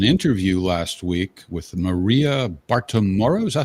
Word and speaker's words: Bartiromo: And there was an interview last week with Maria Bartiromo. Is that how to pronounce it, Charles? Bartiromo, right? Bartiromo. You used to date her, right?